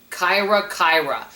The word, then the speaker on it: Kira-Kira: My husband said I'm pronouncing it correctly. Kyra Kyra and the author, her name is Cynthia.